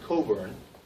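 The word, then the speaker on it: Cockburn: this is a a pattern by alistair alistair coburn it took me a while to say his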